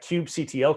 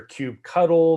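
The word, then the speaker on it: kubectl: the one thing because that cube ctl command i just ran or you'll hear hear cube cuddle there's a lot of ways to pronounce it but that's something we're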